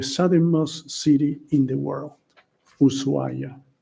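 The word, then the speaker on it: Ushuaia: city in the world usua it has an H there but we don't pronounce it we just say usua and if you have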